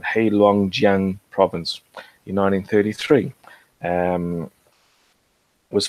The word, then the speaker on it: Heilongjiang: Songhua River in Harbin in hail let's even pronounce it right heilongjiang province in 1933 and was found by a